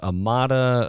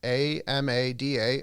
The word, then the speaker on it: Amada: if an individual wanted to learn more about amada about the senior care category generally heck even